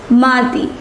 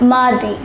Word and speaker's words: mardi: Yes, mardi. We pronounce it as mardi.